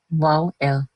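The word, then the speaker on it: vowel: Normally हमारे पास AEIOU जो वॉवल्स कहलाते हैं, पाकिस्तान में हम उन्हें कहते हैं वॉविल, जो कि एक गलत प्रोनाउंसिएशन है। सही प्रोनाउंसिएशन है वाओ-एल।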